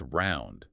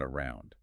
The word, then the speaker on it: all year round: It's round, not around, right?